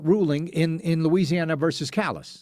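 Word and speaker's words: Callais: in in Louisiana versus Callus? Some people pronounce it Cala. I say Callus.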